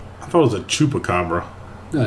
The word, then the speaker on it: chupacabra: Nobody has ever Googled Chuka Cabra cuz it's not even coming up. Well, you're spelled with an X. No, I've I've got a C. Chupa. Chupacabra. Not chuka.